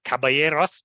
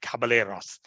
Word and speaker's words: Caballeros: of Los Cabaret Ross the the right word is Caballeros but in Sri Lanka because it is spelled with a couple of else that is how Spanish write it uh we we call it Caballeros so that was the